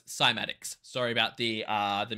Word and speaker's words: Cymatics: frequencies on matter well now we know it's simatics sorry about the uh